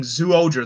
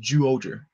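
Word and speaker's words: Zyuohger: Because I've been saying Zooja the whole time, but it's pronounced Juoja. Like, okay, I guess I've been pronouncing it wrong the entire time.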